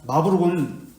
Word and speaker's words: 마르부르크: 이어받지 않았습니다 자 그래서 마르크 브루크 마브룩 있니다 마브룩 이제 아이 쓸 때는 우리말로 쓸 때는 으르 해가지고 이렇게 쓰는데 어발음 있니다 마브룩이 마브룩 회담은 종교 개에 흩어졌던